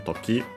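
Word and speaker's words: 時: Is a noun that is accented the last syllable on its own, Toki.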